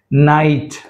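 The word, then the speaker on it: night: నైట్, H silent, ఇక్కడ H కాదు, ఇక్కడ G కూడా సైలెంటే, but we are focusing on H letter.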